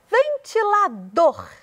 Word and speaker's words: ventilador: E ventilador, o dor é o que tem mais ênfase.